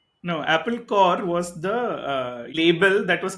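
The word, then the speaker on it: Apple Corps: No, Apple Core was the label that was created by the Beatles, right? It is CORPS, but pronounced Core, sounding like Apple Core.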